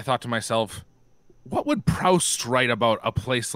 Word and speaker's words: Proust: heard it it's proof you don't pronounce the t what would proust what